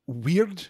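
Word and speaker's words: wyrd: We should also mention, too, weird, W-Y-R-D, an Anglo-Saxon word from the Proto-Germanic, which means, you know, fate or personal destiny.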